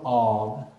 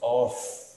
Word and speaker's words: of: No lo pronunciamos off. Of, in front of. If we say off, like this, eso es otra cosa. Apagar, turn off, turn off, turn off the lights. Please turn off the lights, right? Ahí sí lo pronuncio off. Pero si es solo con una F, entonces yo digo of, como si fuera una V, of.